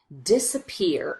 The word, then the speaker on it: disappear: but here it doesn't if both of these syllables received primary stress it would sound like this disappear disappear disappear but because we don't